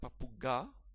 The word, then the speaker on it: papuga: So let's divide this word, papuga. Alright, and stress is on the line, papuga. Right? It's never like papuga, it's never like papuga, it's papuga. Right? Kind of funny word. Anyway, but the stress is underlined, as you can see,